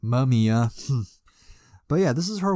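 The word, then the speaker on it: Mamiya: artist named takako mamia not M Mia but mumia but yeah this is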